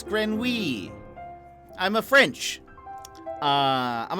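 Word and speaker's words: grenouille: something Grant grin oh grenui a grin hold on how do you how do you say that oh it's like Grand wheat okay yeah yeah like I said like I said it's grin wee I'm a French uh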